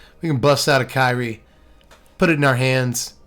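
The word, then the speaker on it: Kairi: kyrie swirling sky the the card is pronounced kyrie i hear it i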